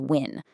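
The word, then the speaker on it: ƿ: Then there's win, a rune that looked kind of like a P but made a W sound.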